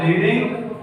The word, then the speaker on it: read: अब रीडिंग की V1 होती है रीड, V2 क्या होती है रेड, और V3 रेड। लेकिन स्पेलिंग सेम रहती है, READ।